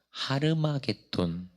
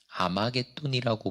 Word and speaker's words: 아마겟돈: 아마겟돈이라는 단어는 원래는 하르마겟돈, H를 묵음 처리하여서 아마겟돈이라고 보통 부릅니다.